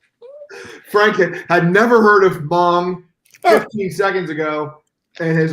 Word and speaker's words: Hmong: There's a Hmong population up there. A what? HMONG Hmongs. They're called Hmongs or Mungs. I think it's called Hmong. You pronounce the H.